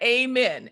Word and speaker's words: Amen: sunny otter sunny s-u-n-y-a amen like amen a-m-e-n okay church say exactly